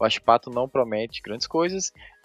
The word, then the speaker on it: Huachipato: para mim, o Huachipato, é assim que se pronuncia? Huachipato. Não é problema. É o Huachipato, isso mesmo.